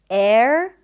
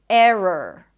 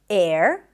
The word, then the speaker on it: error: Error. So technically you pronounce the R, you relax everything a little bit, and then you pronounce the R again. Error.